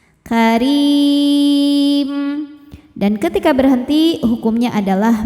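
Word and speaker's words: كَرِيمٍ: Wala karim. Huruf ra dibaca secara tarqiq karena berharokat kasrah maka dibacanya tipis. karim.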